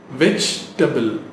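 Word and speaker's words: vegetable: வெஜிடபிள் அப்படி தானே சொல்லிட்டு இருக்கோம், ஸ்பெல்லிங்காக அப்படி சொல்லிட்டு இருக்கோம், ரைட்? which is wrong. கரெக்டாக எப்படி ப்ரொனவுன்ஸ் பண்ணலாம்? வெஜிடபிள், வெஜிடபிள். ஐ பாட் ஃப்ரெஷ் வெஜிடபிள்ஸ் எஸ்டர்டே. ஸோ டேபிள்னு சொல்லாதீங்க, டபிள். வெஜின்னு சொல்லாதீங்க, வெஜ், வெஜிடபிள்.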